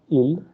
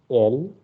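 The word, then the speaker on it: él: Okay, here it is not il. Okay, the way you pronounce in English. In Spanish, the letter E is pronounced as the letter A of English. Okay, so that's why you will say it L and she will be ella.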